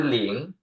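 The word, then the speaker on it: 零: ต่อ ไป ครับ อ่า แ คือ ออก เสียง เล in คือ เสียง อิง เล อิง ลิง เสียง 2 หลิง นะ ครับ หลิง แปล ว่า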